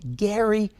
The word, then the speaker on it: Gerry: and the word salamander even though his name is pronounced Gary people still say gerrymandering back in the early 1800s governor Gary twisted the boundaries of